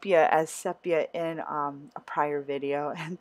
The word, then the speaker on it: sepia: yellow of the vaz so I added some sepia color bursts to give it kind of more of a gold tone and I actually had pronounced as sepia in a prior video and someone did correct